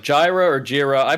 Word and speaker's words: Jira: uh pronounce uh jira as like jira or jira i pronounce it piece of